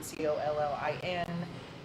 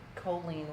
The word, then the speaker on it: Coleen: Yes, I've gotten Coleen like a man, Collin, Coleen with two L's because I'm Coleen with one L.